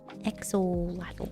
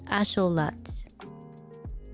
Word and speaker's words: axolotl: It's asholot. Lot. Asholot is the actual pronunciation of axolotl.